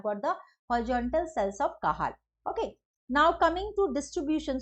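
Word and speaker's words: Cajal: horizontal cell of kahal so how it is pro pronounced not C it is horizontal cell of kahal K it is pro pronounced as K and they are also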